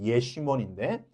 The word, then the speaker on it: 여시몬: 그런데 지금 다윗이 피했던 광야는 어디냐면 나와 있지만 여시몬 되어 있지만 원래 히브리어 발음은 이제 예시몬인데 이건 말 그대로 황무지, 사막이에요.